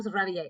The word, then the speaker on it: réveillés: So nous nous sommes réveillés. And remember, these e's and s's do not affect the pronunciation.